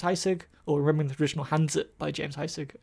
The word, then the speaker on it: Hanzi: I found the book called Remembering the Traditional Hanzi by James Heisig, or Remembering the Traditional Hanzi by James Heisig. I always pronounce it Z because that's the way the Cantonese word's pronounced.